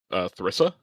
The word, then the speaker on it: Theresa: My brain keeps wanting to for sure say her name wrong. It's Theresa. Yeah. Okay. I kept wanting to say Teresa.